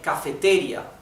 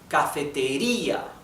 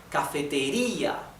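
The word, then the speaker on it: cafetería: stress of the word we don't say cafeteria we do not say cafeteria we do not say cafeteria we say cafeteria right so the intonation is in letter I cafeteria right therefore the weak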